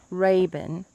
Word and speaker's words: Rabun: what's the name of this place again Lake Raven that's our a B you in that's the way I pronounce it and white in Georgia and you